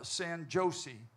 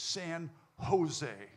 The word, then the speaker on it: San Jose: And he said, "Well, sir, that's pron J is pronounced H. It's San Jose, right?"